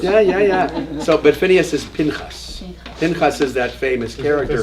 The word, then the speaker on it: Pinchas: Pinchas.